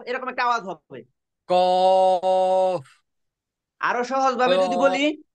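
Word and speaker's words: قاف: কফ, আরো সহজ ভাবে যদি বলি, কফ। আমাদের আমাদের একটা ছোট জিহ্বা আছে ভিতরে, এই হ্যাঁ, জিহ্বাটা উপরের দিকে যায়, এভাবে টস করে লেগে যাবে, তখন উচ্চারণ হবে অফ।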